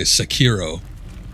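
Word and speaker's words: Sekiro: stream and i've done secure shadows died twice s-e-k-i-r-o i guess some people say sakiro but i can't break away from the original pronunciation oh it did go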